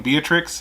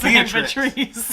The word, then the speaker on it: Beatrice: twice in two videos i'm saying beatrix and it's patrice no it's beatrice i kept saying patrice